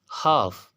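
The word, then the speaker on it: half: हाफ, हाफ, एफ से पहले एल आ रहा है तो ये एल भी क्या होगा, साइलेंट होगा, हाफ।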